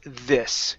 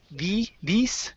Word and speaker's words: this: And your last one is the word this. Here you said these. Give me a short I sound.